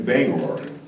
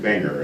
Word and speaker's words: Bangor: So, but it's great to be here in Bangor, which I'm told I have to pronounce it correctly. I kept saying banger, and everybody just cringed.